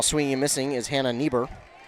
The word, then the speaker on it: Nieber: Meanwhile, swinging and missing is Hannah Nieber. Or Nieber? Neighbor? I think it'd be Neighbor. That's how you pronounce it. Spelled close to neighbor, but just a little bit different.